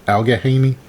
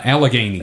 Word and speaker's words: Allegheny: town or the area alger was it al ghagaini uh allegheny allegheny i always put too many syllables or letters in there that's like i